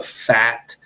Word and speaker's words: PHAT: And it's called the FAT axis. The FAT axis. But FAT is spelled PHAT.